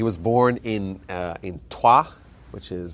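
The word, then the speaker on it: Troyes: born in uh in twah which is spelled t r o y s but somehow the French pronounced it TWA uh in the year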